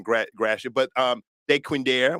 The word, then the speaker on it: Dequindre: saying Gratiot but um de quinder we say Dequindre but these are slave